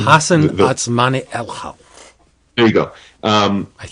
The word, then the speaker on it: Hassan Otsmane-Elhaou: How do you spell it? Do you know how to say his name? Hassan Otsmane-Elhaou.